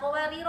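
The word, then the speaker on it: قواريرا: Tapi ketika di ayat 16 ini, ketika waqaf tapi ya, misalnya kadang kan menyambung ayat ya 15 sampai ke 16 ya kan? Dua kata qawarir ya kan? Nah, qawariro yang pertama itu ketika dia wasol maka dia tidak dibaca panjang, artinya alif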